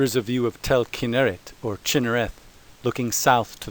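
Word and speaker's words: כנרת: Sites north of Magdala include Gennesar, also called Gennesaret, and Chinnereth, pronounced in Hebrew Kinneret.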